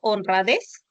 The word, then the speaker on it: honradez: Por ejemplo, en la palabra honradez, des va a ser tu sílaba tónica.